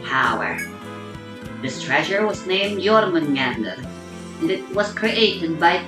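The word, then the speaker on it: Jörmungandr: This treasure was named Jormungandr, and it was created by taking energy from Yggdrasil.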